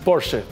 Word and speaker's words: Porsche: En fin, también destacado Luz, les quiero contar e un Porsche, porque esa es la pronunciación ah del automóvil alemán, el Porsche.